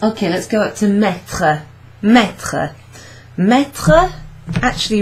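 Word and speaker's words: mis: let's go out to meta meta meta actually rhymes or the past participle rhymes with plea me me okay even though there's an S at the end you don't pronounce it so that was an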